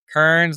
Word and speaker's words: Kearns: Kearns has an A in it, k e. Kearns rhymes with learns and is spelled the same way.